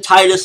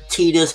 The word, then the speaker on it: Titus: well I call him Titus is actually supposed to be pronounced I guess tetus you know in the episode that's how they pronounce him whatever but I'm going